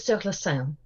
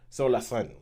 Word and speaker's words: Sur la Seine: Holly, give us a proper French pronunciation of the title of this film. I would go with Sur la seine. Sur la seine.